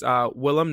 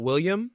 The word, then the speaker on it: Willam: I know it's hard to pronounce, but it's Willam, not William, Oh, and it's Belli, not Belly.